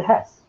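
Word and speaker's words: ห้า: five as laughter okay so five in thailand the pronunciation is ha sounds like hard not mistaken how okay so uh that's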